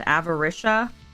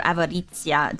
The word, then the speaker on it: Avaritia: But apparently there's a Minecraft mod called Avarishia. Um but it really just means greed. So, or Avaritzia, depending on where you're from or like how you want to pronounce it, but apparently there's a mod called Avarisha.